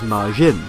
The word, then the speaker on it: Madzin: Apparently this is a message from Masato Nishimura, one of the landscape designers for Sonic CD, or Madzin, which is pronounced same as Majin.